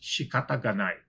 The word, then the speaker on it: shikata ga nai: It's pronounced shikata ga nai.